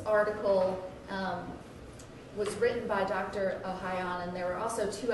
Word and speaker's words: Ohayon: Ohayon, Ohayon, okay. it's French.